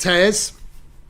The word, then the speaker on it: Theoz: Theoz, if you didn't know, is pronounced Theoz, or Tears, as I like to call it, which is exactly how I felt when this qualified.